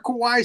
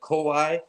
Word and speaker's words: Kawai: monster I saw it the difference in pronunciation it's Kawai not kaai kaai means scary he is scary come